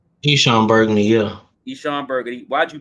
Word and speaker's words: Eshon Burgandy: Eshon Burgandy, yeah.